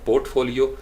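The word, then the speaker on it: portfolio: फिर 4 सिलेबल है हमारा पोर्टफोलियो। मैंने कोशिश किया वो लफ्ज़ भी आपके सामने रखूँ ताकि फ्रीलांसिंग साइट्स पे आपको ऐसे लफ्ज़ सुनने पड़ेंगे बार बार। पोर्टफोलियो, पोर्टफोलियो, पोर्टफोलियो, 3rd syllable के ऊपर पोर्टफोलियो।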